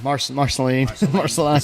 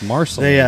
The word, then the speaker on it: Marceline: I'd have to find it, but I know they just whooped Marceline, or however you pronounce Marceline. it. Marceline. I'll say my southern Marceline, but It's Marceline. they whooped them, and that's a program I think throughout the state.